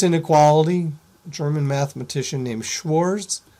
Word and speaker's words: Schwarz: German mathematici I named Schwarz Schwarz um if you want to pronounce it more like the Germans do you would pronounce the W as a v Schwartz something like that I